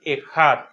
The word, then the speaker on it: Ejad: Normalmente cuando la transliteramos con una K y una H. Al momento de hacer la pronunciación, la H se pronuncia como una J y normalmente la K o la C no se pronuncia, así que se pronuncia Ejad.